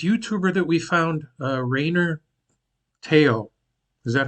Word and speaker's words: Rayner Teo: video about this YouTuber that we found uh Raynor Teo is that how you pronounce it yeah yeah he's a very popular